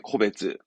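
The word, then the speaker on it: 個別: 네, 코베츠.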